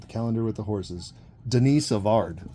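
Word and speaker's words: Denis Savard: calendar with the horses Denise avard well old Danny or Dennis I guess if you really want to say it wrong Dennis Savard right I should just start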